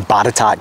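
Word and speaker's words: Botetourt: originally built by descendants of German immigrants in batat County that's how that's pronounced a log house built in the 1830s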